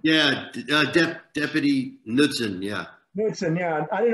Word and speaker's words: Knudsen: Is that how you pronounce that name? Yeah, Deputy Knudsen, yeah.